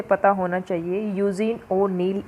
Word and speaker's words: यूजीन ओनील: यूजीन ओनील इसकी correct pronunciation है।